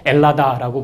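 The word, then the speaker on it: Ελλάδα: 혹은 H 발음이 약해지고 좀 다른 형태를 써서 엘라다라고 부르기도 합니다.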